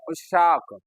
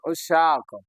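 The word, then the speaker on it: عشاق: आशिक का जमा हां उच्चारण सही नहीं कर रहे। बोल सही रहे। उशाक वेरी गुड। उशाक आशिक का जमा उशाक।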